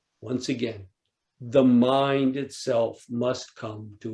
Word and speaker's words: Mu: In Japanese, Joshu, pronounced in Japanese, Mu, or Chinese, Wu, which means no, nope, doesn't.